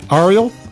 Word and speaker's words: Ariel: I want to make sure I'm pronouncing the name correctly. Ariel?